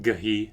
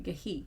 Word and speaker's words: ghee: it's pronounced gahi. Sorry, gahi.